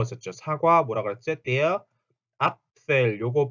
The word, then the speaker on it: Apfel: Apfel 앞 해놓고 fell 그러니까 앞 할 때 양 윗입술과 아랫입술이 앞 하고 붙어야 되고 fell 할 때는 F 때문에 윗니가 아랫입술에 붙어서 새는 소리 하고 새는 소리 있죠. 그래서 apfel, apfel 요렇게 소리가 난다.